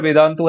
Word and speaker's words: Vedantu: If you clearly want to know what a syllable is, if you look at the word Vedantu, the word Vedantu has three syllables.